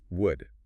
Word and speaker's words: would: Would. It has a silent L.